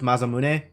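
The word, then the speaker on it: Masamune: Um, for the record, I am aware that given it's a Japanese name, it would be pronounced Mazamune, but uh, it's Eric.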